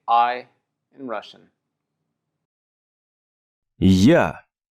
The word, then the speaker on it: Я: Я. Я. Pretty simple, right? It's basically as we say in English, I, but then backwards, я.